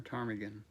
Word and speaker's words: ptarmigan: Or is it ptarmigan or ptarmigan?